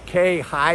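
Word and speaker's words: Khe Hy: His name is spelled unusually. His first name is K, K-H-E. His last name is High, H-Y.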